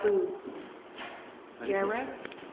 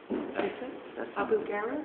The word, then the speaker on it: Abu Ghraib: I found this recently from the prison in, how do you pronounce that? In Iraq. Yeah, in Iraq. Abu Ghraib? Abu Ghraib?